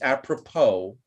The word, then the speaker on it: apropos: is silent that's right the S is silent it's apropos a purple apropos so